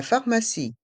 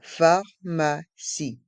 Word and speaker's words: pharmacie: musée le musée la pharmacie la pharmacie dans le mot pharmacie le P et le H se prononce fe pharmacie et le E à la fin est mué pharmacie la pharmacie la